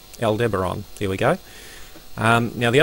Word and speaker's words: Aldebaran: Let's just see how that's pronounced, if I'm pronouncing that correctly. Aldebaran. Aldebaran, there we go.